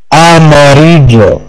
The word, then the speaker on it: amarillo: ليس يو. تتنطق يو. دبل ال. Amarillo. Amarillo. Amarillo. Amarillo. Amarillo. يجب الإنصاف. يجب الإنصاف. Amarillo. Amarillo. Amarillo. Amarillo. ليس بو ليس بس يجب الإنساج بيش ليس لولي أوكي أماريجو أماريجو أماريجو أماريجو ليس دو ليس